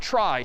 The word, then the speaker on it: trie: a try so a try sort of a weird name in pronunciation short for retrieval pronounced try typically a try is